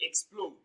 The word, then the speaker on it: explode: It is pronounced louder and longer. Option D, explode.